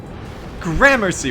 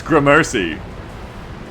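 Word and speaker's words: Gramercy: done yeah air gry grammercy why do you say it like that g Mery it's G Mercy what the [ __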